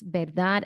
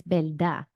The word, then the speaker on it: verdad: Okay, you will often see Puerto Ricans phonetically spell out how they pronounce verdad as belda. Verdad. So they're not doing a strong verdad. That the last D in the word is not being pronounced all that strongly.